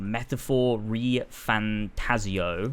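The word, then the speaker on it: Metaphor: ReFantazio: So right away after Persona 5, they started work on this, which is called Metaphor Re Fantazio. That sounds mental. That's how you say it.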